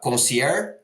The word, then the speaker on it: Consiére: then also staff uh in placement agency uh concier right they're pronounced correct or yes okay awesome so Heather welcome Thrilled to have you and looking forward to the chat.